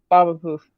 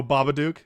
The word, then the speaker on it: Babadook: Baba Poof. Or Baba Poof. Oh, Babadook?